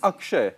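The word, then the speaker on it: Akshai: pronounce it for us? Akshay, Yeah.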